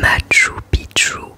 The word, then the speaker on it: Machu Picchu: Le Machu Picchu, qui se prononce Machu Picchu et qui vient du quechua Machu Picchu, signifiant vieille ou vieux